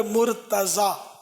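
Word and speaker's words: مرتضیٰ: یہ سب سن لیں، یہ مرتضی نہیں ہے، تلفظ مرتضی نہیں ہے، تا پر زبر ہے. جیسے مصطفیٰ تو اسی کے وزن پر مرتضی، آخر میں زواد ہے مرتضی.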